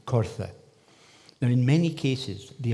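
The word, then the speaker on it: coirthe: Now, the most unequivocal element referring to these features in the east is the Old Gaelic word, which would have been pronounced Cortha.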